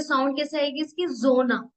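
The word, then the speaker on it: Sonne: Next है एस, एस जोना, ये soft S like English Z.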